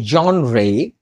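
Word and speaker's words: genre: তাহলে এর জন রে, তোমরা বলো, অনেকে জার বলে, অ্যাকচুয়ালি এটা ঠিক নয়, ব্রিটিশ উচ্চারণ হচ্ছে জন রে।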